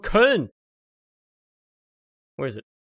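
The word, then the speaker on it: Köln: munchen it's not called cologne it's called kern where is it it's not called colognes called kern you know you don't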